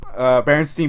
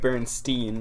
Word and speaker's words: Berenstain: Berenstein Bears.